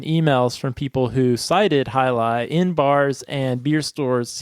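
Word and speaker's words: Jai Alai: down to Tampa Florida where I discovered the highi IPA yeah I really enjoyed that one it looks like J but it's pronounced hii yeah and that was from Cigar City Brewing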